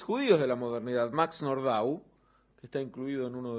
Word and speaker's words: Nordau: de la obra de nordau que es digo nord no nordo porque no era un nombre francés viene más bien del polaco en la pronunciación que sobresale por el